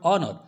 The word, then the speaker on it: honor: The first letter of the word honor, for example, is a consonant, but it is unpronounced. In spite of its spelling, the word honor begins with a vowel sound, therefore we use a.